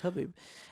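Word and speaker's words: Khabib: We found out it's pronounced Habib, and what a master!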